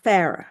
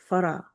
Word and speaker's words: Farah: South pronounce my name uh Farah. Farah. That's what everybody says. When my father named me, he named me Farah. Right? Uh some people can't roll that R, so they say Farah.